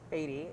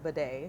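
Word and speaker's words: Badie: One, Tyler Beatty is now, pronounces it Tyler Bidet. Bidet. Yes. Because I got people like, that's not how you say it. Actually, we spoke to him directly. It's Bidet. It's Bidet. It's Bidet. Confirmed directly from Tyler.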